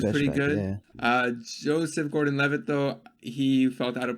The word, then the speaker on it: Gordon-Levitt: Joseph Levitt Gordon. I hope I pronounced his name right. No, I butchered it. Joseph Levitt Gordon. He was completely It's the other way, Fahad. What is it? It's Gordon Levitt.